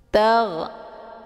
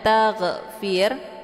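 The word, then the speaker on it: تغفر: Tag, ada gha sukun. Ini cara bacanya dialirkan. Tag, tag, jangan dipantulkan. Tag, ya. Jadi kalau misalkan dibacanya taghfir, keluar bunyi gh, maka itu bacaan yang salah.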